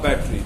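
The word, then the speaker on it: battery: और चाहे वो नाखून के बराबर घड़ी में डालने वाली बैटरी हो या कैमरे में डालने वाली बैटरी हो, that is going to बी अ बैटरी, नॉट बैटरा।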